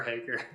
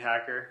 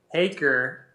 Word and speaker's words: Haaker: Yeah, I think that they'll probably just keep saying Hacker. It's all right. The PR team's like, nah, we don't have time for this. My championship shirt said Haker hacks it, because I think that they're like Hacker hacks it, you know.